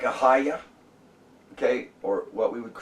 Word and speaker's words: Ahijah: the Hebrew language, and so it should be Ahiah, okay, and that's really, people need to take